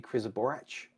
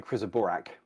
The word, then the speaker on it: Krizaborac: But it's I think Serbian, and it's supposed to be Krizaborac. Oh, wow. So everyone's wandering around talking about the Krizaborak, No, and it's a Krizaborac.